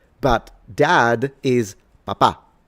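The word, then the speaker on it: papà: So, it's papa, but dad is papa. So the stress is at the end and we tend to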